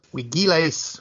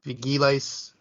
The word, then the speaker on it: vigiles: So it looks like it is vigiles or vigiles, if you use the V pronunciation, because that one gives